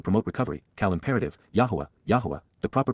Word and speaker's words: Yahowah: be acceptable to promote recovery, Qowl imperative, Yahowah, Yahowah, the proper pronunciation of the name of Eloah, God as